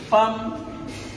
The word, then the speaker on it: femme: Femme qui s'écrit F-E-2-M-E, qu'on ne dit pas femme ou femme. On aurait pu écrire avec A.